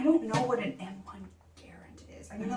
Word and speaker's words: Garand: And Garand, I think is how it's pronounced, according to this.